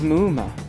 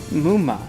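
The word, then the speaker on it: ムウマ: Now, its Japanese name is Muma, which is quite similar and pronounced identically to Muma, meaning dream demon.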